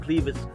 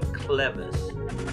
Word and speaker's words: clevis: we did um without them and we used cleavage all right it turns out that i was